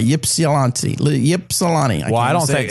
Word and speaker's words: Ypsilanti: It's Ypsilanti. Yeah. So is the Y silent? I don't know. It's definitely not silent because then it'd be Psalanti.